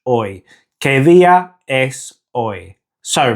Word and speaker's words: hoy: Now the H in Spanish is always silent, so the pronunciation is hoy, without the H, hoy.